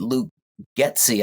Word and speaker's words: Luke Getsy: And, with Cliff Kingsbury jumping in and then jumping out, and then we go and get Luke Getsy. I think that's how you pronounce his name.